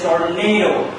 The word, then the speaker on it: tornado: sound of the word, the sound of the word is tornado. Nado. Tornado. Soft open syllable. Stress is fallen on soft open syllable. The quality of the vowel sound is soft.